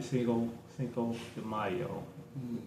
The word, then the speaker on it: Cinco de Mayo: For my Mexican compadres, happy Cinco de Mayo.